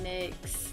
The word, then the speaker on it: NYX: perfect total loving primer some people pronounce it Nick I pronounced it at my eggs banana banana I don't